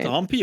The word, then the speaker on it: Ahmpy: The H is silent, though. I noticed you called him Ahmpy, and he called himself Ahmpy. Is it Ahmpy or MP?